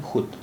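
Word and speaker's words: خود: तो यहाँ पर वाव की आवाज़ नहीं आ रही है, ये है खुद, यह बोला जाता है खुद, खुद।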